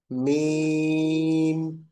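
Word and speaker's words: ميم: মানে আনমিউট করে বলি মিম মিম মিম মিম মিম উচ্চারণ করছি এটা কিন্তু ছোট্ট দুই ঠোঁটের মিম শুকনা অংশ থেকে উচ্চারিত হচ্ছে মিম মিম আচ্ছা মিম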